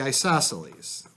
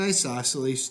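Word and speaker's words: isosceles: So, number two, the isoselles.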